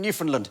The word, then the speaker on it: Newfoundland: did that murder in New Finland." No, it's New Foundland. But actually, both men were right because at the time both pronunciations were perfectly acceptable.